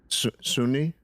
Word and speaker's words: Sunni: gotcha I liked how you said that what Sunni Sunni yeah yeah that's how you say it